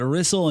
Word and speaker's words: Rysol: take a look at Rizzle and yes that's how you say her name I can prove it